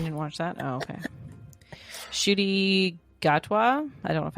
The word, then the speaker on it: Ncuti: you watch you didn't watch that oh okay shoy gatwa I don't know if I'm saying that's his actual name in real life yeah shoy well it's it's pronounced shy but it's spelled NC U TI I'm going